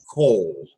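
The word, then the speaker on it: קול: there's also this word in Hebrew, which is pronounced kol.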